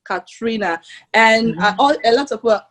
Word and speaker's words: Ka3na: So my name Ka3na is spelled Ka, 3 as a number, N-A, Ka3na.